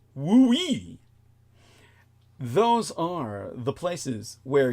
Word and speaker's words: WUI: textbook Wildland Urban interface or wui pronounced wooe those are the places